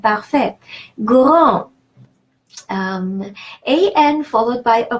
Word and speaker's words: parfait: And AI is a rule of pronunciation in French, and it's pronounced E. And the final T is a rule of thumb. The final consonant is silent. Parfait.